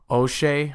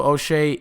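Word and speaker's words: Uche: recently also signed Joshua oshe I believe that's how he wants it pronounced I believe that's how he pronounces his last name is OA not UI which I probably would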